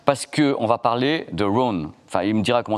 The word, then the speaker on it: Roon: Comment ça prononce? Ça, c'est Rhône.